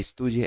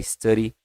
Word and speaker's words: study: Não é studie, é study, tá certo?